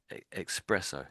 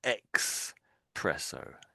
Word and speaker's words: espresso: Um it's very tempting to to miss out the SP and put an X in there. So X presesso. It's not It's not really, but so it's espresso.